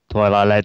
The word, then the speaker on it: Toilailee: And I've heard them all, like Toilailee, Toilailee, even Toilet. Just deal with it. How do you intend it to be pronounced yourself? Toilailee.